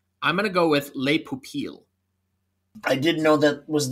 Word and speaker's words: Les Pupilles: The nominees are An Irish Goodbye, Evalu, I will probably get the French pronunciation of this wrong, but Les Pupilles.